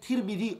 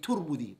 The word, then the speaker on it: Tirmidhi: You can say Tirmidhi or you can say Turmudhi. Both ways are correct. That's how you say his name.